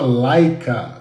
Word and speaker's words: Leica: Live de ontem né a empresa chama laica se escreve Leica se você quiser é